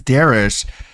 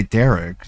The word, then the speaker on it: Darish: But the the Derek thing, it's like his name is Darish, but DSP wouldn't say his name. It would say Derek. So it's like if it's all about getting your name read, wouldn't you have corrected him and said, "No, it's actually Darish."